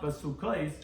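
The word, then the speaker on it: בסכת: Although it's pronounced basukais, it's written basukas, which Taisa explains in a few places over here.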